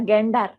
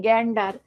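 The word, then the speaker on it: gander: দেখ জেন্ডার বানান কি এটা কি এটা জেন্ডার না গ্যাডার উচ্চারণ কি গ্যাডার গ্যাডার মানে কি গ্যাডার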